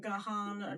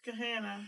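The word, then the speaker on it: Gahanna: I've had someone call it Gahana. Gahana. I'm like, no, it's just Gehanna. It's Gah and Hannah.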